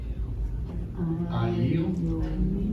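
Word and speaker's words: ayil: I yeel. I yeel. So we're going to pronounce the yud cuz there's a vowel under it. I yeel.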